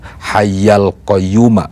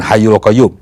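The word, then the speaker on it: الحي القيوم: Ini seringkali agak keliru ya ketika membacanya, karena struktur bahasa Arab itu ya harus diikuti ya sesuai dengan aturan bahasa Arab. Nah ada yang bacanya tidak seperti itu. Nah bacaan yang benar itu Astaghfirullahaladzim alladzi la ilaha illa huwal hayyal qayyum, bukan hayyul qayyum.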